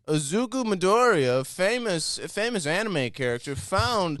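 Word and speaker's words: Izuku Midoriya: breaking news I'm gonna butcher this name but azuko nope how do you say that azuku midoriya azuku midoriya famous famous anime character found local found found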